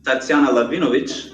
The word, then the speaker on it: Tatsiana Lahvinovich: So guys, a little bit about Miss Tatsiana Lahvinovich. I'm pronouncing it correctly, yes?